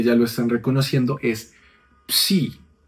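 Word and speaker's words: ψῖ: lo estén reconociendo, es psi. Y ¿cómo pronunciamos esa psi? No, es un sonido un poco raro. Es como hay dos consonantes allí pugnando.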